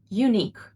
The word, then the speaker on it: unique: It only has two syllables and pronounced as unique.